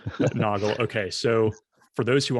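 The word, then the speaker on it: Nagl: I always thought it was Nagel, but yeah. Noggle.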